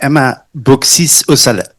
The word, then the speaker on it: Emma Beauxis Aussalet: the ultimate declarative language you could say by Emma Bisale. Thank you very much. Great pronunciation of my name.